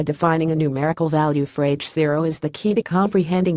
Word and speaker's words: H0: expansion of the universe Hubble's constant or h0 pronounced nought is the name given